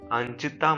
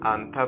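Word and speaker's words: 앉다: अंचिता मत पढ़ना इसे क्या पढ़ेंगे, आंथा पढ़ते हैं, ओके। तो सिट, ओके। इसमें जो चियत है वो क्या है, साइलेंट है, ऑलराइट।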